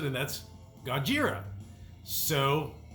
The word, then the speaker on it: Gojira: they changed it to the pronunciation of Godzilla as far as how the Japanese pronounce it and that's God jeera so it's gojira or we say Gojira